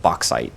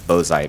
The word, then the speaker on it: bauxite: Well, it's pronounced bauxite. That's a good pronunciation for that.